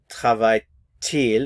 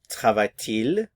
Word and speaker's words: travaille-t-il: So you have travaille-t-il. Normally we don't pronounce the T, but there is liaison here, so we will pronounce it in this case. So travaille-t-il, travaille-t-il, and travaille-t-elle.